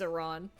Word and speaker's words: Iran: that joke to make sense, you have to pronounce the country wrong cuz it's Iran.